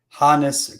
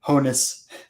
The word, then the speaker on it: Honus: Thankful that you guys are pronouncing Hannes correctly. I cringe when I hear Honus.